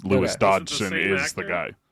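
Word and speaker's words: Dodgson: Campbell Scott as Lewis dogson does that last name sound familiar to anybody I mean you said it wrong because it's Dodson Dodson we've got Dodson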